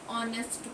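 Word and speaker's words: honest: सकते फिर N umbrella an ऑनेस्ट मैन अब यहां पर हम ये नहीं देखेंगे कि एच क्या है कंसोनेंट है लेकिन हम किससे कर रहे हैं ऑनेस्ट है ना फिर ए यूरोपियन अब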